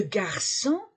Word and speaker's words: garçon: appris des noms le garçon garçon c'est on la prononce que avec le CCD devient se le garçon o n